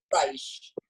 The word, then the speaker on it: Reich: And is Rake? Did I say it correctly? are you here? I'm here. How do you pronounce your name? Reich. Reich.